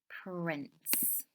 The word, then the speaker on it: prince: write the word Prince Prince don't forget the silent e at the end of Prince you can't hear it let's have a go